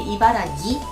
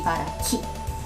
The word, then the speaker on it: Ibaraki: Sometimes people say Ibaragi, but the correct way to say it is actually Ibaraki.